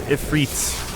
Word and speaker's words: Ifrit: Come Ifit or Ifrit, whichever you prefer. I think both pronunciations are fine.